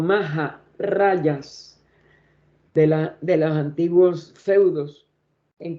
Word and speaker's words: Maharajas: por el gobierno inglés, los Maharajas, como le decimos en mal pronunciación, o Maharayas de los antiguos feudos en que la India estaba dividida.